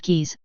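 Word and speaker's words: QIs: of organic forms and fist-sized qi's Quantum intelligence housing pronounced keys can hold a human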